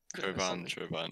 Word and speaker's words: Chauvin: I think it's Chauvin. Chauvin, yeah.